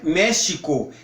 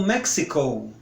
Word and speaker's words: México: Porque México, por exemplo, é México em português. Mas em inglês, eles pronunciam como Mexico. Mexico. Ou seja, coloco aquele x.